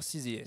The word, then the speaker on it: SZA: CZA, il faut dire CZA.